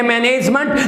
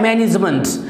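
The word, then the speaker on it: management: हम कहते हैं मैनेजमेंट, जबकि ये मैनेजमेंट होता ही नहीं है, होता है मैनेजमेंट।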